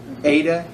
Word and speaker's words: eta: English uh hey it's it's pronounced like hey basically h a y that a that's how it's pronounced okay but it's